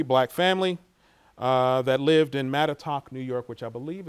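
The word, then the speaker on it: Mattituck: Did I pronounce that correctly? I'm not from here. Mattatuck, okay.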